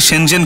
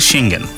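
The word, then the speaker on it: Schengen: শেঙ্গেন, উচ্চারণটা অনেকে শেঞ্জেন করে, আসলে শেঙ্গেন.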